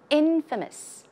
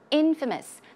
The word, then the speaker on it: infamous: same thing as notorious infamous infamous the stress goes on the first syllable infamous means to have